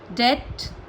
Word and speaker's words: debt: Bomb, climb, calm, crumb, debt, lamb, doubt, lamb, limb, subtle. Got it? समझे? M के बाद में और T से पहले तो बी जो होता है वो साइलेंट हो जाता है।